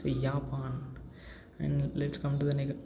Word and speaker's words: Japan: So it is like Japan, not Japan. Okay, it's Japan.